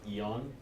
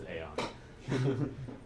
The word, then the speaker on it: Aeon: So if you look it up in the dictionary, it says it's pronounced Eon, but we saw that when we picked the name, and we're like, no, it's Aeon.